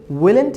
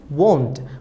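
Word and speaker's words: won't: বা will plus নটটা আমাদের উইলেন্ট হবে না, আমাদের হবে ওয়ন্ট। আমাদের কি হবে উচ্চারণটা আমি আবার বলছি, ওয়ন্ট।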